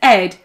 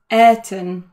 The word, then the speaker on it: Ayrton: And although other people think it's Ed, it's not Ed, it's Ayrton.